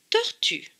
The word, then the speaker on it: tortue: Et cette lettre écrite en bleu, elle est écrite en bleu parce qu'elle ne se prononce pas.